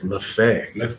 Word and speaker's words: Maffei: You got to say it right for me now, though, man. It's Maffei.